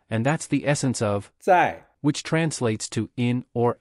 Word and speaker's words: 在: To remember the pronunciation of 在, you can think of the word sign.